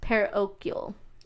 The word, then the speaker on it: parochial: So the property sold in 1923 for conversion to I had to look up this pronunciation, parochial institute.